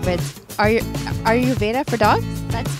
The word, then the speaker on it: Ayurveda: And I love the name of it, and I'm not sure if I'm going to pronounce this right, but are you Ayurveda for dogs?